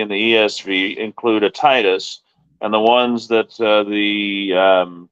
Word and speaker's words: Titus: It is, and if you're going to pronounce it right with the Titus, you need to pronounce it with Titus, not Titius.